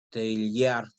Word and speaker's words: Teilhard: Y estoy leyendo el mensaje de Pamela en donde dice que se pronuncia Teilhard.